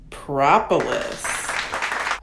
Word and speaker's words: propolis: The correct pronunciation is propolis.